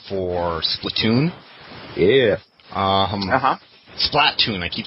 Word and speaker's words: Splatoon: splatoon yeah um uh-huh splatoon i keep saying it wrong it's i keep saying split tune it's split too i think it's platoon i'm pretty sure that's what they said at e3 who cares yeah i